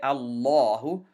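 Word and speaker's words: الله: covered that either that this lamb has to be heavy we are going to say allah we're not going to flatten it out we're going to say allah we're going to we're going to make it heavy fatah now in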